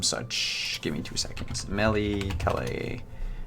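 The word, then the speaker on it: Melitele: give me two seconds Melly Kelly I think it's Mele telly how it's supposed to be pronounced yeah Mele telly yeah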